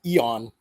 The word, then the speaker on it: Aeon: Some people pronounce it Eon, but I say Aeon.